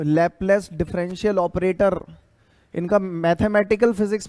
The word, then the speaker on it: Laplace: हाँ जी, स्पेलिंग कर बोलूं क्या? LAPLACE', लैपलेस correction.